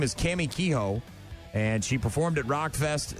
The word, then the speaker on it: Kehoe: Is it Kehoe? Did I pronounce that correctly? Yeah, Cammie Kehoe.